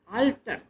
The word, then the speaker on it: alter: Homophones वो words होते हैं जो प्रोनाउंसिएशन में एक जैसे ही होते हैं, जैसे आल्टर, ALTAR, आल्टर, आल्टर माने Bedi. The bread is kept on द आल्टर, दूसरा शब्द है अल्टर, ALTER, अल्टर माने उसका कोई विकल्प।